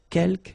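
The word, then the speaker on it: quelques: Uh you don't pronounce the final S here. Keelk means few.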